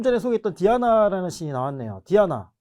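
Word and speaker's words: Diana: 연결이 된 거죠 그래서 숲 사냥 달의 여신 디아나 뭐 디아나 라고 발음 하지만 우리가 왜 서양 이름 중에 많이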